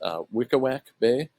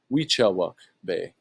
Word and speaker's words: Weechawuk Bay: Down here to I had been calling this Wickawak Bay, as it says here on the map, or how I'd pronounce it. I was corrected recently. That's actually pronounced Weechawuk Bay.